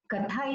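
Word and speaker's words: कथा: So that time he was telling me, Katha is not just one word, and it's not just, derived from the root katha, that is to tell, to narrate, It has 2 syllables, ka and tha.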